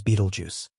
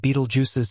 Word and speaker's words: Betelgeuse: other a giant of the cosmos known as Beetlejuice behind its Majestic appearance lies a ticking Time